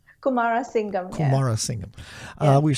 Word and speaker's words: Kumarasingham: How do you Well pronounce done. that? Is that right? Kumarasingham.